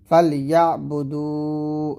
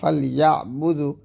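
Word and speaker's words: فَلْيَعْبُدُوا: যেমন ফাল ইয়া বুদু, দু তাকলিফ টান হবে, তবে আমরা পড়ি ফাল ইয়া বুদু, টান দেয় না।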